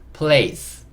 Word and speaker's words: place: 얘는 묵음. 달아줘야겠죠? 그래서 적어보면 play, play 한 다음에 c가 내려오면서 place, place 이렇게 읽을 수 있고, place의 의미는 장소예요.